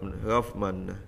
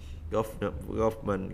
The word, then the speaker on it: government: Government. Government các bạn ha. Medicine đọc là medicine các bạn ha. Mình thử nghe thử tiếp ha. Government.